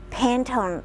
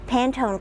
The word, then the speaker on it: Pantone: to select face down Pantone I think that's how it's pronounced Pantone cards and um I